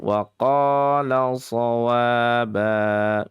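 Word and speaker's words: وَقَالَ صَوَابًا: Hati-hati adik semuanya ada waqaswaba. Ada yang baca begitu. Waqaswaba. Padahal di situ tidak ada alif lam ataupun huruf shad yang di tasydid. Maka bacanya biasanya saja waqala shawaba.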